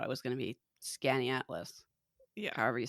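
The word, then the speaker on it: Skaneateles: an oh yeah yeah the way that Amy says it's pronounced is scanny atlas that's what we said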